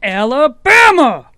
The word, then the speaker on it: Alabama: Alabama! You got to say it like Forrest Gump.